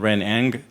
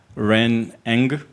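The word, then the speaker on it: Ren Ng: Ren Eng, How do you spell it? N-G. Oh, just that? Yeah. Well, how would everybody know that?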